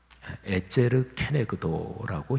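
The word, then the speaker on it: עֵזֶר כְּנֶגְדּוֹ: 에제르 케네그도라고 히브리어로 발음하는데 근데 그 단어가 창세기 말고 다른 데 쓰인 데를 보면 하나님께서 우리 사람을 도우시는 도움, 그렇게 도우시는 하나님의 손길, 이거를 표현할 때 에제르 케네그도 이 표현을 썼어요.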